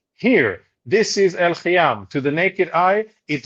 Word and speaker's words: El Khiam: You pronounce it Khiam, the Arabic pronunciation pronunciation is El Khiam.